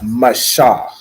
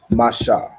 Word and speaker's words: Masha: can I pronounce it it's Masha right so it's m a ma and then s h a h sha Masha that make sense okay